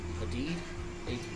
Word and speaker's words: Hadid: Haddad? I always read it as Haddad. I don't know how you say it. I said Hadid. It's the ID, right?